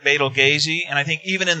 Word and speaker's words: Betelgeuse: Yeah, so it's because I think that's actually it's actually pronounced like Betelgeuse, and I think even